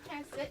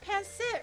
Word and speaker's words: pancit: the way she says pan sit is it bad am I saying it wrong it's it's pant sit right you you said pant